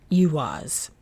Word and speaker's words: Eihwaz: verbs we're working with IAS or some folks pronounced Yas of the Galer I